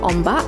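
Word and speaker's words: ombak: I found out that ombok is actually how you pronounce it in tanganu like in Malaysia wave is called ombat but in tanganu I guess the dialect of the slang is called on ball I guess the cutest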